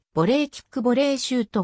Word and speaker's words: ボレー: 派生したらしい発音上はボリーの方が近いというサッカーのキックシュートにおいてボレーキックボレーシュートが